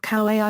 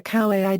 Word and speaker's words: Kauaʻi: the beginning of words, the Kauai dialect was known for pronouncing this as t. In effect, Kauai dialect retained the old Pan-Polynesian, while standard Hawaii dialect has innovated and changed it to the k.